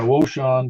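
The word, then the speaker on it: Wouxun: victor 950 papa and that's a oh sean w i believe that's how they pronounce it w-o-u-x-o-n four-band it's uh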